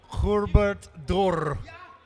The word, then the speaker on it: Herbert Dörr: If you really want to be German, you say Herbert Dörr with a rolling R. Herbert Dörr.